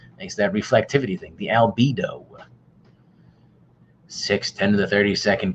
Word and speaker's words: albedo: high reflectivity which as YouTube told me is pronounced albedo which planet is the hottest our sources and